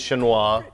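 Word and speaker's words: Chinois: you know when you you want to say Chinese and French you say sh yeah so apparently they've phonetically gone with the French it's it's the Chinese shinoa very good um and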